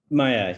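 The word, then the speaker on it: Maja: all right so and it's pronounced maya right maya yeah yes um so maya daniels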